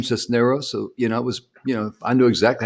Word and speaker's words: Sisneros: Sisneros. Jim got it right. Nailed it. Got it. Cisneros.